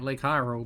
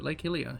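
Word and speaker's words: Lake Hylia: scare we butchered it Lake Helia I'm going to keep calling it Lake hyro but Lake hilia here we are water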